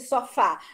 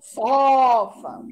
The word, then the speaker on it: sofá: Não, sofa. Eita, amor. Lembra que eu falei isso? É a pronúncia da gente que diz qual é a sílaba forte da palavra, a sílaba tônica.